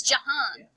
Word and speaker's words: Jahan: Did everybody know that Jihan's name is not Jihan? It's Jahan.